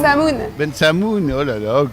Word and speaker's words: Bensemoun: Ben Semkhoun, comment on prononce? Ben Samoun.